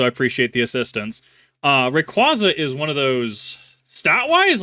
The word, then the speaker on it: Rayquaza: I know that it is pronounced Rayquaza officially. I've been saying Rayquaza for the past 20 years.